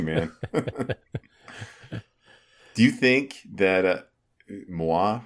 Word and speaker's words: Muah: Do you think that Muah, right? Is that how you say it? Muah.ai, yeah. Like a kiss?